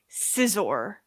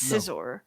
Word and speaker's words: Scizor: It's actually pronounced Josh corrects me on this one all the time. Scizor. It's Scizor.